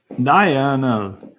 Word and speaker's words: diurnal: diurnal, diurnal, diurnal, Diurnal. It's like Diana, diurnal.